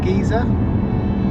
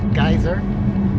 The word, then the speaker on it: geyser: we're off to see a gizer or if you're American pronounced geyser or if you're cotney Gea